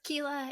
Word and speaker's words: Quila: So it's Quila if you like a challenge, if you want to get up close and personal with me.